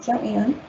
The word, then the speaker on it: Joanne: in 1974 joanne little i know it looks like jim but she pronounced it joanne is an inmate at